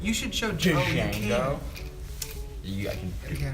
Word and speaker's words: Django: Okay, so it's Django. It's D-J-A-N-G-O. Yeah, because the D's not like It's silent. there. and then Monty, he's been pronouncing the framework we use for our robotics website, Django. And I'm like, that's 2 layers of wrong. Because one, if you were going to say it like an American, it would be Django. I said But instead that.